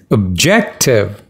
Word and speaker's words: objective: you pronounce the words it's objective the second syllable is stressed subjective again second syllable